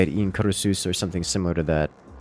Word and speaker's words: Incursus: Like, obviously I'm saying Incursus as a... in the American accents, as a more European, or I guess like Greek, Latin accents, it would be something more like Incursus.